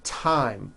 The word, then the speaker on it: thyme: Although these next words and names are spelled with a th, they are pronounced as if they were spelled with a normal t, t t like that.